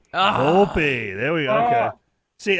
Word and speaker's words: Volpe: Now I'm gonna guess it's either Volpe or Volpe. I say Volpe. Come on, you guys are from New England. You should know it's Italian. It's Volpe. Volpe.